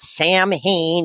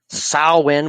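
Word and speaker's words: Samhain: we're talking about Sinn we're not talking about Sam Hayne even though it's spelled like that sawin we all know that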